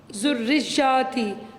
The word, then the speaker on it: ذریتی: کر لیں دیکھیں ومن ذریتی تو یہاں پر عورتیں بڑی غلطی کرتی ہیں ومن ذریتی کبھی کچھ اور یہاں پہ اس کو دیکھیں نا تشدید ہے اوپر جوڑنا ہے ومن ذریتی